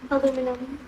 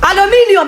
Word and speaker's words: aluminium: Aluminum. Alude? Huh? Aluminum. Aluminium. It's not aluminum.